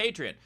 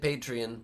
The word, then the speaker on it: Patreon: Steve insists on calling it Patreon, pronouncing it that way. I think America knows and the world knows it's pronounced Patreon, and I think Steve knows it.